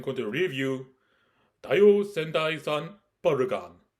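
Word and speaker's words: バルカン: Hello, Brian the Fanboy here, and today I am going to review Taiyo Sentai-san Barukan. It's written as Taiyo Sentai-san Vulcan, but I'm gonna say the way it's pronounced.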